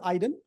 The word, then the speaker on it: Aydin: My first name is Aydin. The way I teach my students how to say my name is Biden without the B, with no political undertones, obviously.